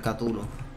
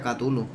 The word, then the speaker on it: Cthulhu: Sí, creo que se pronuncia Cthulhu.